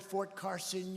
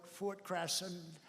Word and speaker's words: Fort Carson: You don't like to mispronounce a word, like you come to a great place like this, and instead of calling it Fort Carson, you call it Fort Crasson.